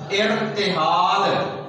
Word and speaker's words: ارتحال: کے اوپر جزم لگائی ہے، تے کے نیچے زیر لگائی ہے، ہی الف ہا کے اوپر زبر ہے، اور نام جو کہ آخری حرف ہے اس کے اوپر جزم لگائی گئی ہے. اس کا تلفظ بنے گا ارتحال.